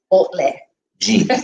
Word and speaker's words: Baudelaire Jean: And the name of our guest, Baudelaire. Jean. Yes. Yes. So like it's Baudelaire Jean, right? Baudelaire Because Jean, it's pronounced in French. So well, that's the French pronunciation, but I guess if